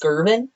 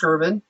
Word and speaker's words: Skirvin: Skirvin? I believe it's Skirvin. That's how I pronounce it.